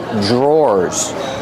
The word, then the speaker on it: drawer: These are called drawers. The pronunciation is not like a spelling pronunciation. Dr. makes a J sound. J plus the R together. J drawers or like door and floor.